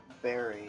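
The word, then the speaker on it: bury: Aside from many things, the fact that the word B-U-R-Y rhymes with the word F-A-I-R-Y. Berry and berry.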